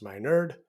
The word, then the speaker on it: Minard: podcast I'm your host Dr Minard pronounced my nerd and I am honored